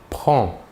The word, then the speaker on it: prends: il/elle où on prend voyons ici que la prononciation est la même pour les trois premières personnes le s final des deux premières personnes ne se prononceront pas mais s'écrivent passons maintenant aux trois personne